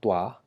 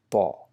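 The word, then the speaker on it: ط: It might sound similar to Ta, but Ta is straightforward with open mouth, Ta, and this actually comes from the same location but with a rounded shape in your mouth. So Pa with a slight W sound. It's not Twa, but it's Pa, Pa, Pa, Pa.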